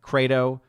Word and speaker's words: Credo: Obviously, I would pronounce it more like Credo, right, of I believe in Latin.